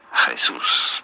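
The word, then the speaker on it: Jesús: you pronounce pronounce this you do want to stress on the second syllable that's what the accent on the means here Jesus pretty straightforward once you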